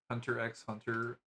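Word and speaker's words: Hunter × Hunter: I read through Hunter Hunter X Hunter recently. I still remember Clavia always used to say I pronounce the X in Hunter X hunter.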